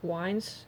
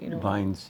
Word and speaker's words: vines: it's all of wines, Vines, yeah. Yeah. Uh-huh. Sure. I mispronounce things, but it's Yeah, well, W's and V's in your language is different.